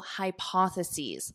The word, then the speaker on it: hypotheses: Many controversial hypotheses. Hypotheses, this is the plural of hypothesis. One hypothesis, two or more hypotheses. So notice the pronunciation changes at the end to identify the singular versus the plural.